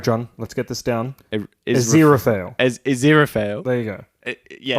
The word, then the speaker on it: Aziraphale: Wow, my goodness, you've gone for like 6 different pronunciations. Yeah, Aziraphale. Aziraphale.